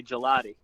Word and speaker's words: Gigliotti: It's a silent G on the second G. You got the silent G. Yeah, we usually say gelati. Gelati. Yeah, Okay. You're right. Yeah, the G and the L, exactly. When it's together in the Italian language, it is silent.